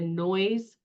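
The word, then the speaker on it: Noyes: and this building called the noise building it's spelled like no yes um was one of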